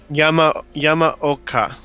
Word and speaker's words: Yamaoka: Akira Yamaoka? I have no idea. Where? Number 16. Yamaoka? Is that how you say it? Yeah. Yamaoka.